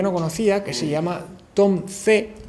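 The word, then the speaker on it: Tom Zé: conocía que se llama Tom C con z y con acento en la e un tipo que también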